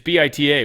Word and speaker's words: Bita: Insisted you pronounce it Beta. It's Bit Ta. We'd all be like, "Hey, what's up, Beta?" She'd be like, "That's not how you say my name." Like, "Huh? Beta. Bita." She's like, "No, it's Ba."